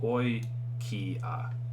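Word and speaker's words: οἰκία: And this word here is pronounced oi ki a, right?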